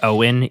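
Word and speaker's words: Eoin: Um, and speaking of unpronouncable names, this guy is Marcus Owen.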